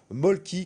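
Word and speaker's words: Mölkky: Autre sport, autre pratique également en plein boom à Angers, celle du molki, que vous pouvez également prononcer molke à la finlandaise, le pays d'origine de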